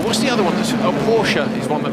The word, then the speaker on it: Porsche: the other one a Porsche is one that a lot of people argue about his new Porsche is correct Porsche or Porsche it's Porsche yeah but that's the odd